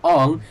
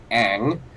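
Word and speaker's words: Aang: Even the pronunciation of the main character's name, Ong, and I'm pretty sure Avatar didn't take that either.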